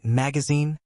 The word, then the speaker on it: magazine: So we kept the stress on the last syllable and said zen. That's why magazine rhymes with machine and cuisine.